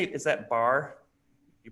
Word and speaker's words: Barre: in her hands do you say is that bar you pronounced okay thank you Barre classes keep her mind clear and her body